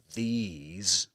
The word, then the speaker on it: these: And this is pronounced with a long E sound and ends in a Z sound.